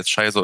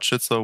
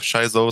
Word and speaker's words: Shizo: okay here we have shaizo so i was like okay that sounds better than schizo yeah so kind of sounds like the sh dog like shih tzu dog um but yeah like